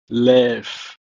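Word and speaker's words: לֵב: It's pronounced as lev, or it can also appear in this form, levav, levav.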